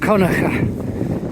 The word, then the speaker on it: Kilconquhar: So I have just ridden from Elie Holiday Park and I've come to what's spelled as Kilconquhar Estate, and I understand that it's pronounced Conacher, and when I go through the village you will see that.